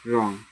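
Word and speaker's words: wrong: डब्ल्यू आर ओ एन जी रॉन्ग यहां पर W silent है। डब्ल्यू को हटा के पढ़ रहे हैं। रॉन्ग डब्ल्यू रहेगा लिखते समय डब्ल्यू लिखेंगे। बल्कि जब पढ़ना होगा तो रॉन्ग कहेंगे।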